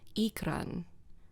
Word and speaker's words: ikran: Like for the beasts that they fly in the game, they're called ikran, but the stress syllable is on the ik, and then the r has a rolled r, so it's ikran.